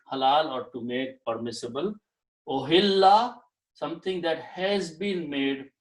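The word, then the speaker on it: أُحِلَّ: Now, if if I combine these and pronounce this way, O halla. Okay, actually kasra. Ohilla.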